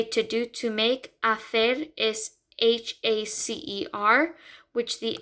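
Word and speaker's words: hacer: word um well sometimes when a word starts with h um it the h is silence so in this word the h is silent like if you say to do to make afer is h-a-c-e-r which the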